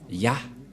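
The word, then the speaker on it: יה: vais mettre en bas, sa prononciation se lit I et l'autre se lit AH. Je vais expliquer simplement. Et lorsque on va regrouper à la normale, ça se transforme en Ya, que nous allons écrire ici, Ya.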